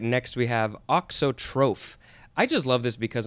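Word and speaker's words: auxotroph: is good uh all right next we have oxotroph i just love this because i'm learning all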